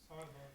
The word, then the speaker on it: sarva: So, this B, I'll give you a clue, is a V, and we did one today in yoga class. Sarva.